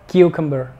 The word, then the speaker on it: cucumber: que ver ni camber es simplemente el convair cucumber céntrate en enfatizar aquí el acento en enfatizar que equivocan ver que buscan ver